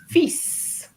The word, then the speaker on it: fils: Is The son pronunciation. fils.